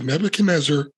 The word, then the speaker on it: Nebuchadnezzar: he has risked everything you have pronounced sir two things slightly wrong it's the nebuchadnezzar and it's zion zion